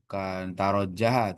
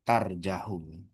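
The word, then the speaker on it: ترجح: Tadi bacanya bukan tarojah tapi tarjahu.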